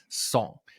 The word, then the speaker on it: Tsong: Uh today we are talking to Nicole Song. Uh and I just I want to make sure is that the right uh pronunciation?